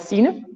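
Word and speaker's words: Signe: example as you know I'm called Cen but it's actually spelled s i g n e there are a lot of letters that we don't pronounce in the Danish language and it's not always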